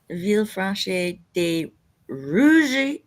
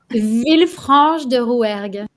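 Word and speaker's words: Villefranche-de-Rouergue: France, Sapania, Hungary, Berlin, Germany, Villefranche de Rouge, Rouergue. Totally butchered that. Villefranche de Rouergue.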